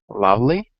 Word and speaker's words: lovely: Yeah, that V can be a little bit difficult, but just make sure you pronounce that lovely.